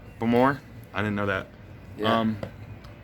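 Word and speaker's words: Baltimore: It's pronounced like s'more, but Bamore?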